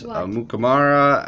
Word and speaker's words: Amukamara: Autograph of Prince Amukamara at a Spectra. Did I pronounce his name right?